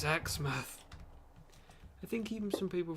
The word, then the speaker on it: Exmouth: It's Exmouth. I think even some people from like London, who pronounce Teignmouth as Tynemouth or Teenmouth.